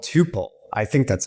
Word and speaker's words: Tuple: I prefer Tuple, but Tuple is fine, and other people say Tuple, so it's fine.